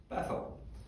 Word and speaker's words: Beth-El: We would pronounce it Bethel, but it's Beth-El, right?